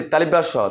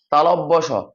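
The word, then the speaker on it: তালব্য শ: পড়াবেন কোন সমস্যা নেই অনেকে উচ্চারণ করে কি তালিব স তালিব্বার সারটার সঠিক উচ্চারণ হচ্ছে যে তালব্য স তালব্য স মদিনার স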